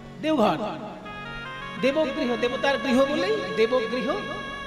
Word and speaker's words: দেওঘর: তারপরে এখন ব টা অ তে পরিণত হিন্দি উচ্চারণে দেওঘর হয়ে গেছে যাবেন এটা দ্বাদশ জ্যোতির্লিঙ্গের এক জ্যোতির্লিঙ্গ